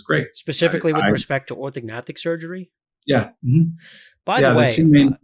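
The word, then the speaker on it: orthognathic: specifically with respect to orthognatic surgery yeah by the way seems s super silly question silent G or non-silent G orthic orthic it's a sound okay so it's like Gnostic yeah exactly okay thank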